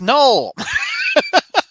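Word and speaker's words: Knull: It's Null. K-N-U-L-L. Yeah. Yeah, but anyway, The K is silent.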